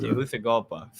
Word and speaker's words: Tegucigalpa: Thousands of people took to the streets in the Honduran capital of Teju, Tejus, Tegucigalpa, Tegucigalpa. For some Tegucigalpa, reason, the C is pronounced with the TH. That's what. Tegucigalpa.